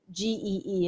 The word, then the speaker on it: Gee: since we're explaining pronunciations, Gee is how his last name is. And you've been saying what? It's like the letter G, not Gee.